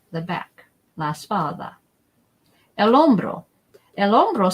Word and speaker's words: hombro: El hombro. Remember that the H is silent.